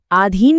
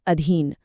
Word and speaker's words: अधीन: जैसे आधीन में लंबी ध्वनि गलत है। सही शब्द है अधीन छोटी ध्वनि के साथ।